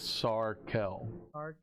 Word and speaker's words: Sarkel: I don't think I pronounced it like Srell. Well, I mispronounced it. It's Sarkel.